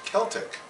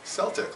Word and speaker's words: Celtic: word in English and in other languages they still use a soft C French has sent Spanish